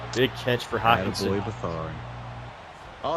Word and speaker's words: Beathard: Beathard.